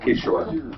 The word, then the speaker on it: Kishore: Pronounce his name right. Kishore.